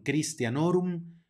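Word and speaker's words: Christianorum: jaculatorias Aquí nada más acuérdense que las he seguido de una H no es una h y suena como K por lo tanto María auxilium Cristian norum hora pronovis ruega por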